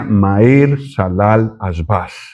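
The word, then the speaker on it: מַהֵר שָׁלָל חָשׁ בַּז: En hebreo esto se pronuncia Maer Salal Asbas, el nombre del hijo menor de Isaías.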